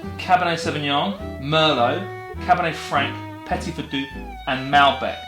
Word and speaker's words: Petit Verdot: Earlier on he said Petit Verdot instead of Petit Verdot.